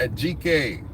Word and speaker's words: Ajike: but uh right now make a GK I know I know I know y'all might not pronounce it like that but a GK Owens makes you rest in